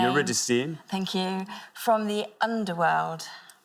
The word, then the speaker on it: Eurydice: Right, I am going to go for Orpheus leading, and I don't know how you pronounce his mate's name. Eurydice.